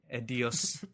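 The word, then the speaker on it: Ezio: Like, the way they make it sound in their statement, IDOS's, or EDDOS's, depending on who you ask, their statement, Edios. yeah, Edios. That's how it's pronounced.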